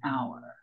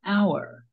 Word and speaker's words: hour: We say an hour. Why? Because the H at the beginning of the word hour is silent. So the first part that's pronounced has a vowel sound, an hour.